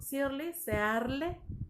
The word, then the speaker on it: Searle: Austin, se pronuncia Austin, y John Searle, se pronuncia en inglés, John Searle, con Searle.